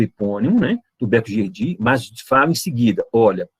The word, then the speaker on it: Gerdy: Nós temos um tubérculo, conhecido como tubérculo de Gerdy, né, escreve Gerdy, né, com Y, mas pronuncia Gerdy.